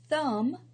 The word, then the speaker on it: thumb: the L is silent thumb the B is silent half the L is